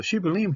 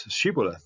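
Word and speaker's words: שיבולת: because back in Ephraim, the way they pronounce it is Shibboleth. They pronounce it a Samic rather than a Sheen.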